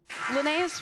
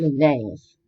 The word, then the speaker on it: Linnaeus: Linnaeus once said that Linnaeus. Well, there truly a cerebrum, L. Linnaeus. L. Linnaeus. Actually, pronunciation dictionary also goes Linnaeus, right?